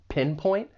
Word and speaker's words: pinpoint: For pronunciation, the verb has two syllables. The stress is on that first syllable, pinpoint. And I'd also like to point out that final T. It's really a stop T. It's pretty subtle.